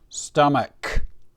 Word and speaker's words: stomach: And the CH we pronounce like a K. stomach.